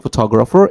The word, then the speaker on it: photographer: second syllable photograph or even if we have like photographer it's uh stressed in different place photographer I want to